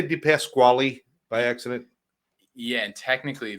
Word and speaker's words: DePasquale: I think when my family came over from Italy, they dropped the E to try and hide the vowel at the end. So technically, DePasquale is the correct pronunciation of the name.